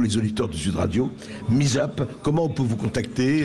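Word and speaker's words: Mi2zup: Il suffit de taper Misap sur Google et vous nous trouvez. Voilà, Misap, ça s'écrit M-I-2-Z-U-P.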